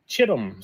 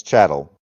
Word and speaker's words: chattel: I don't care if you call it Chittum slavery, whatever you want to call it. It's chattel.